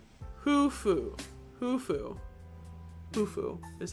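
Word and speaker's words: Khufu: Hufu is how you say his name.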